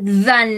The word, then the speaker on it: dans: No pronunciamos la S porque la palabra que sigue no comienza por vocal. ¿Sí? On ne prononce pas le S parce que le mot suivant ne commence pas par voyelle.